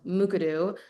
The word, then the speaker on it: Mukurtu: And what we landed on was a system called Mukuru. It's spelled Mukurtu.